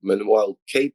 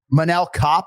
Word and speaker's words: Manel Kape: Manel Kape, like Manel like Kape. A cap almost, but Manel Kape.